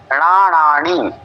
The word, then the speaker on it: णाण: मदी सुध ओह अणण णाणी पहले क्या है णाण फिर णाणी णा है शब्द न का उच्चारण नहीं होना चाहिए ण होना चाहिए फिर मण पच्च केवल